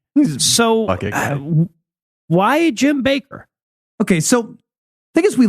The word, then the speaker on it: Bakker: going to be talking about Jim don't say backer backer no don't Baker yeah the only reason I asked you specifically